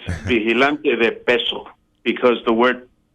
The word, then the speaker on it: vigilante: So the G, which I should have known, would be silent there, as an H, more of an H. The G is pronounced like an H.